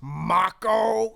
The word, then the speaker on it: Mako: that's awesome and he goes excuse me it's pronounced Mach oh wow I mean I was trying to come